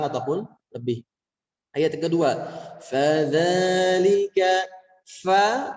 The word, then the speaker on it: فَذَلِكَ: Ayat yang kedua, fadzalika, fa, pastikan ketika kita menemukan huruf fa keluarkan anginnya, nafasnya. Fa, fadzalika alladzi yad'ul yatim. Dan cara pelafalannya jangan terlalu menekan, jangan fadzalika alladzi, jangan ditekan-tekan seperti itu, tapi rileks saja.